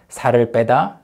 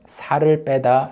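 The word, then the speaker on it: 살 빼다: are high pedda and high e+ more naturally pronounced sorry beta and sorry Partida once again sorry beta and sorry body de both are translated into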